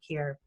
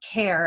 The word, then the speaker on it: Kaehr: don't know about cure and I it's pronounced care and I always take care so I apologize it's